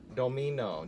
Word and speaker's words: Domeno: Startime summer Daniel Domino is how it's pronounced. Domino.